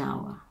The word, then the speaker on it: hour: it wasn't my finest Hour finest hour now you could hear link for the T to the O there o because of course H is silent for hour for the word hour okay let's move on